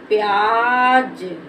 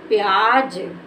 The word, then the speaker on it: प्याज: देना तो प्यार क्या हो गया प्यार दूसरा प्याज प्या ज यह हमारा हो गया प्याज इसको पढ़ेंगे प्याज अ नेक्स्ट वर्ड देखो फ फ को कैसे